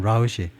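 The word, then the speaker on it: route: 이거고요.이 이 라웃은 그냥 루트 또는 라웃이 우리가 보통 루트라고 발음데 네이티이 단어를요 루트라고 보다는 라우이라고 더 많이 발음합니다.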